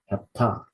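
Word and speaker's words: ἑπτά: Sorry, the stress needs to be on the final syllable. Hepta, hepta, which means seven.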